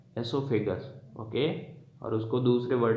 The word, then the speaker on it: oesophagus: एसोफेगस में ओ silent रहता है, बाकी को प्रोनाउंस करते हैं अपन ESOPHAGUS, एसोफेगस।